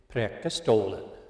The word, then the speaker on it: Preikestolen: and we went to a famous place called Preikestolen. You have to pronounce it right, otherwise you're not Scandinavian. Preikestolen.